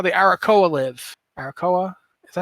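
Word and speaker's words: Arakkoa: Arakoa? Is that how you pronounce it?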